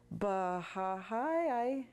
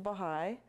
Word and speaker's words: Baha'i: Sure enough, eventually he says, "Baha'i, I haven't heard of that." I correct his pronunciation, Baha'i, and then I said, "It's a wonderful worldwide religion working for world peace."